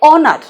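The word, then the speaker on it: honour: কি বলবো আবার অনেকে হনার অনার করলে কিন্তু হবে না এইচ থাকলেও এটার উচ্চারণ হবে অনার অনার মানে সম্মান করা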